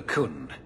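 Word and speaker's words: Qun: The life you saved, he would now squander by converting to the Koohn. He has left for the Kunari compound. Please, He Sarah pronounced Hawke, it correctly.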